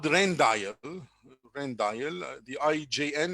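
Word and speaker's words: Rijndael: belgium damon and raymond and it's also called rendail rendail the ijn it's called it's pronounced rendail so the uh it was came in the usa in 2001.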